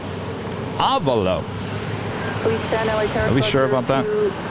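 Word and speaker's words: Avelo: Oh, and Avalo is pronounced Avalo. Avalo.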